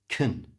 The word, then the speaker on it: can: I can't find my keys and I'm running late. Notice can at the start is not actually pronounced can. It's pronounced kun. Kun. It's like the beginning of Kentucky Fried Chicken.